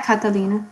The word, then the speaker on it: Catilina: Catilina, right? That's is it Catilina? That's how you say it? Yeah, Catalina.